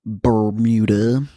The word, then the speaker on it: Bermuda: I think you're putting the wrong emphasis on the syllables. Bermuda. The Bermuda? The Bermuda Triangle.